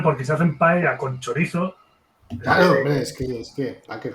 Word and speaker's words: chorizo: hombre, pero normal, porque se hacen paella con chorizo. Claro, hombre, es que, Packer, joder. Perdona, ¿se pronuncia chorizo? Ponen una T ahí que no está.